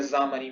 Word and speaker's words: Xamarin: No caso, a pronúncia dela é Xamarin, mas ela começa com X. É Xamarin.